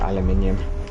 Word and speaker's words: aluminium: oh there's the old there's the old aluminum debate which is correct oh man Alum te technically you are actually right but we we pronounce it aluminium that sounds like you're